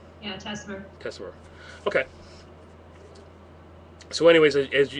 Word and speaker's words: Tessmer: 722 uh is teser is that correct teser yeah teser teser okay so anyways as uh what we